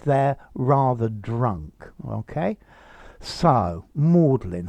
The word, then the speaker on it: Magdalen: college uh and only oxford people call it modeling college it's the old-fashioned pronounced pronunciation okay so modelling comes from mary